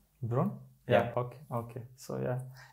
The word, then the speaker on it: Bron: It's how do we pronounce it? Bronnen, something like this? No. Bron.